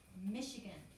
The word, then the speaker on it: Michigan: looks more like michigan because it's a ch not an sh sounds like an sh but it is a ch michigan probably means it's french remember they said french